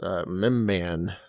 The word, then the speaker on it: Mimban: And Rural Farm Boy in our chat says yes, Mimban is the pronunciation of that.